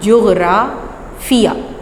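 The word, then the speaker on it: جغرافیہ: अक्सर बच्चे इसको गलत प्रोनाउंस करते हैं, लेकिन आपने आज के बाद इसको बिल्कुल सही प्रोनाउंस करना है। जीम, गैन, जुग, रे, अलिफ़रा, जोग्राफ़िया। ये तो हो गया जोग्राफ़िया का तारुफ़।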